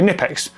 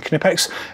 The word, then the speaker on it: Knipex: However, someone from Knipex brought me up on it, and it was just like, we actually pronounced the K in Knipex.